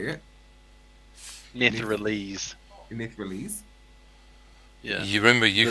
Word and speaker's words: Netherese: Netherese.